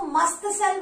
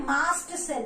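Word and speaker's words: mast cell: इसको मस्त सेल मत पढ़ना, ठीक है, मस्त सेल नहीं है इसकी प्रोनाउंसिएशन, क्या है, मास्ट सेल है।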